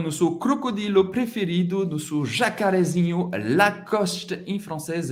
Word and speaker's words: Lacoste: Agora com o nosso crocodilo preferido, nosso jacarezinho, Lacoste em francês é Lacoste. Lacoste. Lacoste. Não tem muita dificuldade para pronunciar essa marca famosa francesa.